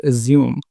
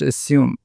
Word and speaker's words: assume: film industry isn't it some people pronounce this word assume but according to the dictionary it should be pronounced assume with the sa sound as opposed to the zah sound and what was your